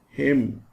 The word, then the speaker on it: hymn: N is silent in autumn, hymn.